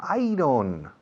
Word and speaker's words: iron: How do you say iron in Spanish? Hierro? Ah, iron. No, iron, no. Iron. ¿Cómo? Iron. Yo, como si dijeras, yo gano. I earn. Acentuando I.